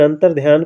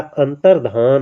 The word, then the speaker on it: अंतर्धान: यह आपका गलत है अंतरध्यान गलत होता है अंतर्धान होता है दोस्तों अंतर्धान शुद्ध उच्चारण भी करिएगा अंतर्धान होता है अंतरध्यान आपका गलत है है ना अंतरध्यान हम उच्चारित करते थे लेकिन आज से सुधार कर लेंगे अंतरध्यान नहीं अंतर धान अंत्याक्षरी होता है अंताक्षरी